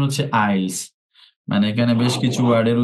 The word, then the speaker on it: IELTS: Class I'll IELTS এর আমরা এখন থেকে আইলস বলি, সবাই IELTS বলি, এটার উচ্চারণ হচ্ছে আইলস, মানে এখানে বেশ কিছু ওয়ার্ডের উচ্চারণই হয় না।